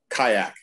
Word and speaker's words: Kijak: Stephen Kishak or Stephen Kijak? Kayak. Kayak, even better.